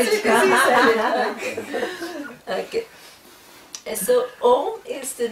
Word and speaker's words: Om: So this Om is one word which represents, okay, the Ishvara. It has 3 syllables, A, U and Ma, okay?